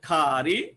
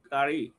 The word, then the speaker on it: curry: ওরা বলে খাড়ি, আমরা বলি তরকারি। ওরা বলে খারি, আমরা বলি তরকারি। সরি। তো আমরা এটার উচ্চারণটা কি? খারি, নট কারি।